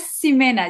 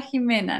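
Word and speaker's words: Ximena: es muy interesante porque se escribe con X Y y se pronuncia con j eh Me da mucha risa porque tengo una amiga Jimena una amiga que se llama Jimena que siempre siempre lo dice pero no me llames simena Llámame Jimena no entonces vale es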